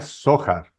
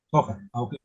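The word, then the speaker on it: Zohar: libro del se pronuncia sojar sojar acuérdense que en arameo y en hebreo la H se pronuncia como J Muchas gracias conocía Muchas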